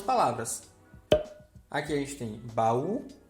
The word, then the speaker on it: baú: O sozinho na sílaba tem que ter acento. E esse acento representa que essa sílaba é a mais forte. Sem acento ficaria como, professor? Bau, grajal e pagel.